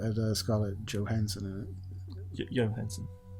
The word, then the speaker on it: Johansson: Johansson. No, it's Johansson, because although Johansson is the proper pronunciation from where she comes from, because she's American, it gets Americanized, and she herself says Johansson.